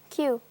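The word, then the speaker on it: queue: Joey, pronounce the word that is spelt Q-U-E-U-E. Q.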